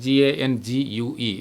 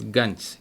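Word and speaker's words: gangue: otherwise called guns and g-a-n-g-u-e it is not gangu it is gunch you can write like this against this is the pronunciation it is guns okay matrix or gangs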